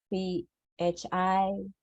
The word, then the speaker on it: Phi Nagpala: So to begin, could you tell me again your full name and spell it for me, please? My name is Pinapala, Phinagpala.